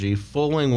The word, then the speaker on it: Fowling: Check out it's spelled FOWLING, Foaling Warehouse, and it's good.